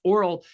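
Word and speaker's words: aural: Oral is spelled A-U-R-A-L, A-U-R-A-L, which means pertaining to the ear, versus oral, O-R-A-L, which means the mouth. Sorry for our English language. I don't understand why I have two words spelled differently that are pronounced the same.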